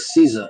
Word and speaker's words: Caesar: Now you take Caesar. It's Latin. In Latin it's pronounced like Kaiser with a hard C.